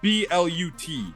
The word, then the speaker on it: Blut: Another second form is called the Blunt or whatever. It's spelled B-L-U-T or Blut.